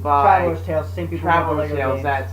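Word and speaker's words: Traveller's Tales: Traveler's Tales.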